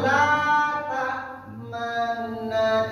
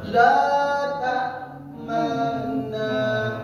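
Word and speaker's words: لا تأمنا: La ta'manna. Lihat ada rambut. Ya. 3 4. La ta'manna. Tuhan. 2 itu cara baca Islam. Pertama, monyongkan bibir. Yang kedua, bunyikan sepertiga bunyinya.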